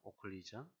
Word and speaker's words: occlusion: 앰비언트 O라고 읽어도 되고요. O라고 해도 됩니다. 오클리전이라고 합니다. 오클리전.